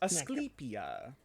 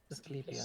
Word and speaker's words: Asclepia: I probably can't pronounce that right. Oh, Asclepia? Yeah. very close. Asclepia. Asclepia.